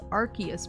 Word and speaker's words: Arceus: Learned the other day it was pronounced Arceus because Nintendo of Europe didn't want kids running around saying arse. I will continue to say it with a soft C.